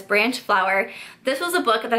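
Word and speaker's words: Branchflower: by Laura Branch flower I always want to say her last name wrong but it's branch flower this was a book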